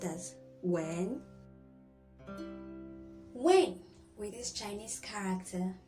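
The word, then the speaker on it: 吻: It can be pronounced as when, and it can also be pronounced as when.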